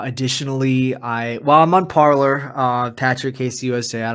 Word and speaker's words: Parler: dedicated to boomers, but it's a French word and it's pronounced Parler. But, of course, none of its users call it Parler. They Yeah, I've never heard anyone call it Parler.